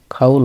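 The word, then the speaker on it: 가을: খাউল অর্থ শরৎ, খাউল অর্থ শরৎ বা শরৎকাল। শিউত শুরুতে থাকলে স উচ্চারণ হয়, অনেক সময় আবার দন্ত স বা স্বর মতো উচ্চারণ হয়।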